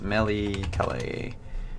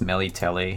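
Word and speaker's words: Melitele: give me two seconds Melly Kelly I think it's Mele telly how it's supposed to be pronounced yeah Mele telly yeah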